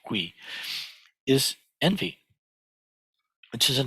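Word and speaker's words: 喜: The opposite of mudita, the opposite of which in Sino-Korean is pronounced hui, is envy, which is an extremely common human experience.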